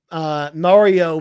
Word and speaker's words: Mario: I only go with Mario being the correct pronunciation, because that's how Nintendo pronounces it when they That's talk about true.